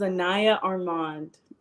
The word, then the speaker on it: Anayah Armand: to mess it up I am horrible at pronouncing names hello my name is Anaya Armand okay now y'all heard it I'm gonna try